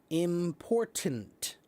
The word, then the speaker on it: important: Important. That is the way to say the word. Okay? With two hard T's.